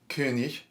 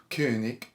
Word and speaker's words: König: Now this is fun in the German because there are two ways you can say the word for king, depending on whether you're from like North Germany or from Southern Germany and Austria. The way you're likely to learn in school is the more Northern German way, which is König. But the Southern way, which probably would have been Mozart's way, is König.